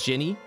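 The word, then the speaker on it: Djinni: Yeah, that's how you pronounce it.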